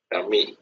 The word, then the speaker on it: Camille: এটার উচ্চারণ হচ্ছে কামি। Kami.